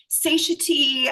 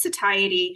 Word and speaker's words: satiety: my god, huge relief because I was saying satiy. I wasn't really sure how to say it." Whatever. So anyway, it's satiety.